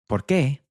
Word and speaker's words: por qué: So we have because, which is porque, but when we split up this word and stress the ending, so it becomes ¿por qué?, the meaning changes to why.